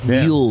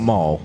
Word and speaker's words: mule: Mule, not maul. Mule. Mule. Not maul. M. Correct. Correct. I mean, if you mispronounce it, you could probably say mu mu mu mu.